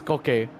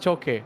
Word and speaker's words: Koke: And it spells Koke, so I guess. Koke? Definitely not Choke. No, Koke. Because, you know, it's spelled K. Like some people spelled C, some people spell it K.